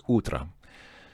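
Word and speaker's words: утро: would be UT but because the O is not stressed it's pronounced more like an A so this word is utra so pretty straightforward o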